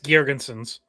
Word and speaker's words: Girgensons: Is it Zemgus Gergensons in Tampa? Is that how you say his name, Scott? Yes, Zemgus Girgensons.